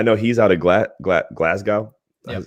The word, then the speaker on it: Glasgow: sammy's awesome i know he's out of gla glasgow that's how you say it yeah um so